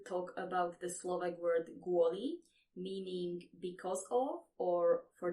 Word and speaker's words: kvôli: And in the beginning of the word, we have the letter k, but in this case, it is pronounced g.